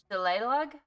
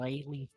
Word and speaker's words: shillelagh: It has a G in there, but I guess that's silent. Shillelagh. Shillelagh. I love that. That's Yeah, better. that's what it is. It's shillelagh.